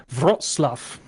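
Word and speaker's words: Wrocław: to look up how to pronounce it it's pronounced brought Slough although it does not look like that when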